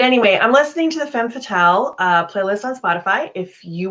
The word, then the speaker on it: Femme Fatale: You got to say it like that, Femme Fatale.